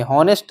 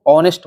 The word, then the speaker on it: honest: हॉनेस्ट तो लिखा है लेकिन हम इसको ऑनेस्ट पढ़ते हैं।